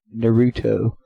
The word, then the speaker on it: Naruto: Yeah, it's sad that I know that you actually pronounce that Naruto.